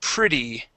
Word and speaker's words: pretty: Um, next word is uh pretty. All right. So the e in this word is actually an i.